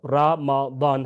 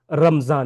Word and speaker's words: رمضان: دوسری بات یہ کہ یہ جو رمضان کا تلفظ ہے وہ رمضان ہے، رمضان نہیں ہے۔ اب اگلا سوال یہ ہے کہ رمضان کا جو لفظ ہے اس کا معنی کیا ہے؟